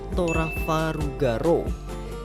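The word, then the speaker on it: トラファルガー・ロー: dari nama Trafalgar Law kalau di bahasa Jepang pelafalannya itu jadi torah faru ga ro ja Dato sama ruptor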